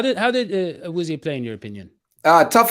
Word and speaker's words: Awuzie: How do you pronounce it? Awuzie. And now to see that the defense was the X factor in this game. How did he play, by the way, Joe? How did Awuzie play, in your opinion?